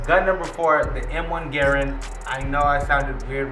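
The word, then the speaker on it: Garand: searched it up online everybody that says Grand it is totally wrong you're wrong that is not how you say it that's not how you're supposed to say it it's Garen and I didn't even know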